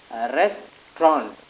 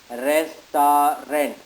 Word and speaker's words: restaurant: syllable word not three syllabic world because it's pronunciation is restraunt we generally pronounce it as rest our rent which is wrong both the boys were the